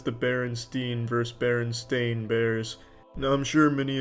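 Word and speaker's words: Berenstain: report and strangely enough I used to actually pronounce it Baron stain but I was constantly corrected by the teacher and my parents saying Charlie take that brillopad out of your mouth and say it the correct way or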